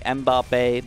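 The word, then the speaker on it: Mbappé: is thank you again ambape uh or mbappe i think mbappe people are telling me that's how you actually pronounce it but i like bobby better if that's a review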